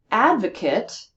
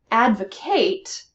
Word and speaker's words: advocate: Advocate is also a noun, meaning a person who defends others. Advocate is a verb, meaning the defense of others.